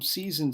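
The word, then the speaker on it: seisin: So, from season seizure but when we have a z in it, even though they're pronounced the same.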